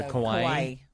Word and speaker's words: kawaii: Well, it's spelled like Hawaii, but it has a K instead of an H. So kawaii.